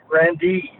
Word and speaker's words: Grande: Grandee. Uh that's the way we pronounced it.